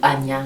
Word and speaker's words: Ajna: L'appellation de ce chakra en sanskrit, eh bien c'est Ajna chakra ou Anya chakra, A-J-N-A.